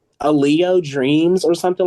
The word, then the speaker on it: Alao: So I just was like, you know what, Alao Dreams, cool, whatever. But a lot of people mispronounces Alao. So like, when you hear it, you might hear like Aloe or like Alan or like that. So like I walked up,